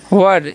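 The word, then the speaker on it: were: वर, इसे वेयर नहीं पढ़ना, वर।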